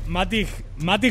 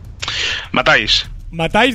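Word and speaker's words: Matthijs: Matic De Ligt, ¿lo pronuncio bien, David? Matáis De Ligt, vale.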